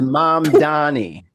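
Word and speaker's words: Mamdani: And the name is Mom Donnie. Get it right. Yeah. Yeah. Learn how to say it.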